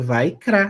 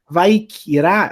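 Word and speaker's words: ויקרא: Aqui tem uma regra fonética, né? Eu tenho shivá no meio de palavras que não tem som nenhum. Mas, em compensação, eu posso juntar a sílaba. Então, ao invés de falar Vaikra, eu posso ler Vaikra, que é até mais fácil de ler.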